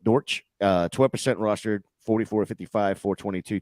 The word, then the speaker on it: Dortch: a championship game and Greg dolch or I think that's how you say it Dortch uh 12 roster 44-55